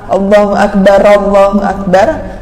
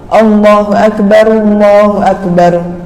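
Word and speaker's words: الله أكبر: Nah, yang perlu diperhatikan sama seperti lafaz Allahu Akbar yang pertama dengan Allahu Akbar yang kedua, nggak boleh bacanya ro-nya itu terbaca ra, Allahu Akbar, melainkan harus dhammah. Allahu Akbar.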